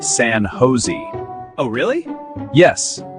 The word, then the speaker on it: San Jose: San Josh. It's actually pronounced San Jose. Oh, really? Yes. In English here, the J is pronounced like H.